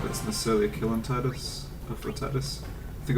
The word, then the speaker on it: Tidus: Yeah, I know his name's pronounced Titus, but I'm just bad at remembering.